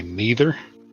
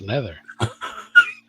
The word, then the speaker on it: Nether: It's like when people say my name and they say neither. I'm like, dude, there's no I. It's nether.